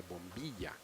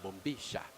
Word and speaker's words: bombilla: is known as a bombilla. These guys say bombilla because Bombilla. they don't know how to pronounce a double L sound in Argentina. Come on, Colombian, you can say it.